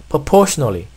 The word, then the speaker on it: proportionally: 자, 그래서 발음하기 불편해요 합니다. 원어민도. 그래서 생략해버리고 그냥 proportionally spaced fonts.